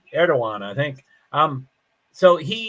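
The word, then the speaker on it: Erdoğan: there's no runoff so erdogan there's a D in there but it's pronounced as a w I think erdogan I think um so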